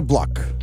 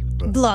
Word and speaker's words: Bloch: Débora Bloch. Block.